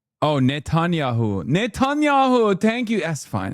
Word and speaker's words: Netanyahu: Hit him with the Netanyahu being the real, make pretend president, realize he's just a city mayor.